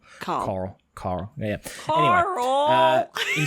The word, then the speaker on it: Carl: Baron okay Carl Baron in America they would not pronounce the r in Carl Carl Carl yeah he s